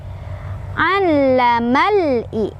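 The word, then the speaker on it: علم الإنسان: Allamal i. Al-nya tekan ya. Ada tasydid.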